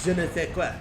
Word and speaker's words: je ne sais quoi: If you know it's pronounced je ne sais quoi in French, you should just say it as je ne sais quoi, you know?